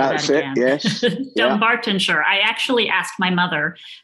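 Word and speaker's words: Dunbartonshire: Dumbartonshire.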